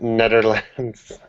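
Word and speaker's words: Nederland: and he spelled Netherlands Netherlands Netherlands yeah whatever native language the Netherland uses the Netherlands is the English pronunciation but if you want the Dutch pron pronunciation it's just Netherland it's one land anyways what should we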